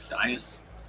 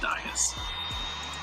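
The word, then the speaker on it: Dais: I think it's pronounced Dias.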